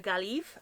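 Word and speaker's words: Gaillimh: All I know is how to pronounce this and this. This is Galway in Irish, which is a Gaelive, and this is Ireland in Irish, which is Era.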